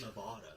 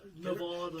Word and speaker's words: Nevada: It's pronounced Nevada. Nevada.